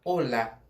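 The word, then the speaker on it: hola: Em português é olá. A gente tem a sílaba mais forte no lá. Em espanhol é no o. Então é olá.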